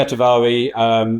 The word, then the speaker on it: shatavari: Shatavari. So everybody pronounce it differently. I guess they do. Yes, sorry, I didn't mean to correct you there, but shatavari is.